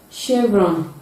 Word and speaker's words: chevron: indonesia stage we cannot shoe champagne sheep sheep chevron chateau at the middle position attention prevention caution